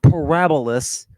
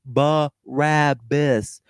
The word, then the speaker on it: Barabbas: But yeah, that I didn't say anything about where Barabbas is from, and it's not Parabolas, however you're pronouncing it. It's Barabbas.